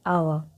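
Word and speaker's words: hour: যেমন দেখো এখানে অ্যান আওয়া, এটা এইচ তো কনসোনেন্ট লেটার, কিন্তু তার আগে অ্যান কেন বসেছে? কারণ আওয়ার কথাটা এইচ ফার্স্ট আসছে ঠিকই, কিন্তু এইচের উচ্চারণ কিন্তু এখানে নেই, এখানে আওয়া উচ্চারণ আছে।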